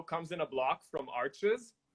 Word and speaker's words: Arches: in a block from arches which is actually pronounced arch but most people pronounce it arches because there's an s but you know french